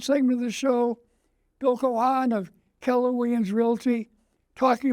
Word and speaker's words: Keohan: Bill, we go with Keohan. Keohan, okay.